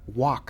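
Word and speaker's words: Wack: in Pensacola Florida Bishop walk I think his name is pronounced it looked like it's spelled like whack but uh he said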